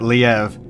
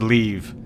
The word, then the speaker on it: Liev: The guy that's playing Leave pronounces it Liev. Every other voice actor in the game understands that L-I-E-V is pronounced Leave.